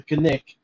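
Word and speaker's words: Knik: harbor area of the Nick Creek Arm, or Nick River Arm. And I know I'm saying it wrong. I think the locals call it the Kanik.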